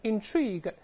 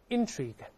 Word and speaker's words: intrigue: 我们大声读一下 intrigue，注意动词动词 intrigue，但这标准的名前动后，名词重音在前，动词重音在后。